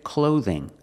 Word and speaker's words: clothing: I'm wearing clothes pronunciation clothing use the long o like no and go use the th with a voice Z like this and that cloth clothing clothing so what is if